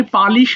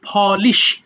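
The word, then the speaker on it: polish: এটাকে পালিশ বলো না কেউ, আমরা বাংলাতে পালিশ বলি, আমার জুতাটা পালিশ করা দরকার, বাট এটা আসলে হবে ফলিশ।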